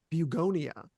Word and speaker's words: Bugonia: And I think it's actually you're supposed to pronounce it um, Bugonia, but I'm just going to say Beonia because a lot of people are saying that anyways.